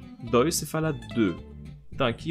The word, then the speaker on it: deux: E como quando você fala un, dois, se fala deux. Então aqui é o som de D, mas o som de E, aquele E fechado que já vimos no vídeo sobre os E, no caso.